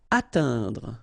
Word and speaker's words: atteindre: Atteindre. So remember when you combine this E-I-N together, you get the sound un.